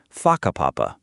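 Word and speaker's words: whakapapa: You'll hear locals casually talking about places like haka papapa, pronounced faka papapa.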